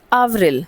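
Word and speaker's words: avril: So Mars is Mars एप्रिल वी से इट एज़ आवरिल। सो आव ए वीवी and then are आई एल आवरिल।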